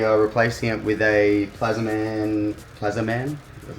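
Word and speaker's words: Plazmaman: We've removed the standard intake manifold, or just the top of it, because we are replacing it with a Plazaman, that's how you say it, forward-facing plenum.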